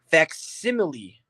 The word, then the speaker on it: facsimile: Facsimile.